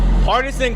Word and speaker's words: Partizen: It's pronounced Parmesan. No, it's Partizen.